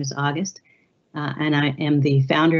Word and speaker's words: Auguste: the people we serve and yes you did pronounce my name correctly roy it's my last name is august and i am the founder of august research